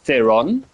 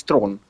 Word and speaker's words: Theron: Yeah, in her native language where she's from, South Africa, it's not Charlie's Theron, it's Charlie's throne.